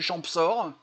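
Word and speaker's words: Champsaur: et les ravioles du champsort et j'ai vérifié on prononce bien le P c'est le champ sort euh c'est une région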